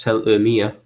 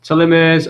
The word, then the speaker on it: telomere: It's telomere, or pronounced telomere, from the Greek telos meaning end and meros meaning part.